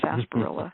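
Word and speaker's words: sarsaparilla: Um there's another um root that is called sasparilla spelled sar sapperilla but it really is pronounced sasparilla root and related to it is another species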